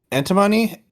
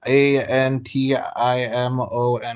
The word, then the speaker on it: antimony: tin dioxide arsenic antimony a-n-t-i-m-o-n-y everybody laugh at me if I pronounce it wrong but I'm not antimony no antimony rhymes with the Antigone so I like that better I once saw some